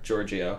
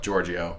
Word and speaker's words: Giorgio: Giorgio. Giorgio.